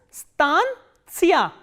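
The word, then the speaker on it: станция: And the stress is on a. So, that you have to keep in mind. This is stantia, stantia, stantia.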